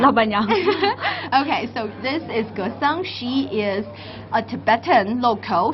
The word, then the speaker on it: Gesang: if you like to pronounce, but we can pronounce it as Gesang.